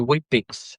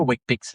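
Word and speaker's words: Weet-Bix: So Wheat Bix, wheat, which sounds healthy, you know, Wheat Bix is spelled WEET. Yes. So it's not actually, it's not, it sounds like wheat. It sounds healthy.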